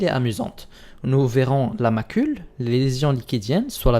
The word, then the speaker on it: macule: s'en rappeler c'est que macule se prononce comme ma couleur indiquant donc que c'est